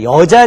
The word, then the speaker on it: 여자: 딸을 자녀라고 이야기합니다 자 여자 녀자 관련해서 여러분 꼭 기억해야 될 것은 발음이 뭐였어요 의미 여자여 있죠여 있기 때문에 뒤에 올 때는 여를 읽힙니다 어떻게 읽혀요 그렇죠 남녀 그리고 소녀 모녀 할 때는 정 으로 열을 읽히는데요 이게 앞에 올 때는 우리말 첫 소리에서는 니은이 발음이 안 되거든요 그래서 니은이 탈락해서 여자 여왕 여군으로 읽힌다는 거 머릿속에 꼭 기억하시기 바랍니다